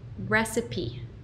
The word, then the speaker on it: recipe: Recipe, recipe, recipe, recipe.